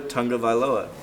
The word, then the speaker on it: Tagovailoa: Here is now a quarterback, Tua Tagovailoa.